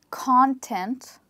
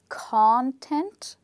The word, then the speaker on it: content: So in the first word, we stress on the first part and we say content, okay?